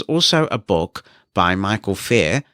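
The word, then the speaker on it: Feir: So if you search for iOS Personal Power and then Michael's name, so it's Michael and Fair is spelled F-E-I-R, that will come up as well.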